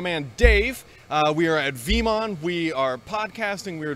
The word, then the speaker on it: Veeam: We are at VeeamON, we are podcasting, we are doing all sorts of good stuff.